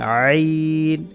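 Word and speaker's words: ع: রাখবো এটার নাম হচ্ছে আইন গলার মাঝখান থেকে থেকে কণ্ঠনালীর মাঝখান থেকে যেটাকে মাখরাজের পরিভাষায় বলা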